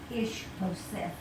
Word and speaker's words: Ishbosheth: Ishbosheth.